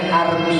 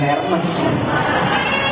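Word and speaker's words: Hermès: Bacanya Army bukan Hermes. Army itu bahasa, loh kok bahasanya tulisannya Hermes banyak, ya itulah bahasa Perancis tuh bahasa yang munafik. Tulisan sama bacanya beda.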